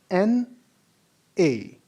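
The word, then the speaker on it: 那: Look at the tone above the letter A. It is the same tone that is on the letter E of ch. We are going to pronounce it as na, na, na, na, na.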